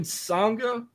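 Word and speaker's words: Sanga: So Jinder Mahal's back on the main roster, and he's bringing Sangha. Did I say his name right? Mm-hmm. Sangha, and then Veer.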